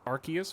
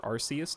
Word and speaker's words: Arceus: I saw the credits of Arceus or Arceus depending on where you live and how you say it I have I now